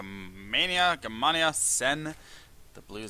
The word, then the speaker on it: Gamania: me I was like oh it's Germania you know something like Mania but it's gmania I know like gmania s like it's I